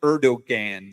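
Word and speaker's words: Erdoğan: It looks like Erdogan, but I think it's pronounced Erdogan. I think it's Erdogan. Yeah, it's that's the way it looks. It looks like that, but I think it's pronounced a Erdogan.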